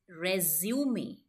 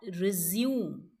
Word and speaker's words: resume: Right pronunciation for this word is resume, not resume.